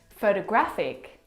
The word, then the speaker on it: photographic: The third example, photographic, the stress is on the third syllable.